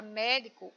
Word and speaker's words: médico: Na palavra médico, o mé é a sílaba tônica, portanto, a sílaba mais forte, tá bom?